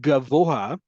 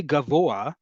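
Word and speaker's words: גבוה: So in the word gavoa tall, right? That hey is actually pronounced. Even if you say gavoa and you don't sound doesn't sound like you're saying hey.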